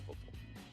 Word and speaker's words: forecastle: So it's forecastle, even though it's spelled forecastle.